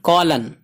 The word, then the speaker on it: column: COLUMN کولن، کولن ایم خاموش ہے، silent ہے.